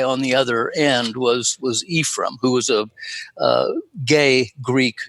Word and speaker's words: Ephraim: The second book, after the Book of Ephraim, they always pronounce that name, by the way, Ephraim. It's not the good Hebrew. You were much closer to it with Ephraim.